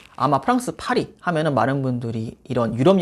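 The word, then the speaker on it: Paris: 발음이 현지 발음은 파리 약간 이렇게 되거든요. 아마 프랑스 파리 하면은 많은 분들이 이런 유럽 여행 하면은 바로 떠오르실 수 있는 그런 관광지라고 생각이 드는데요.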